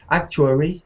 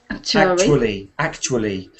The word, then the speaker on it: actually: Yes, you said a typical Chinese pronunciation is to mix up the r, w, and l sounds. So yours sounded like actuary, something like that. Actually.